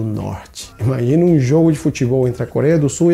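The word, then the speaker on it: fútbol: Presta atenção na pronúncia. Futebol. O T mudo.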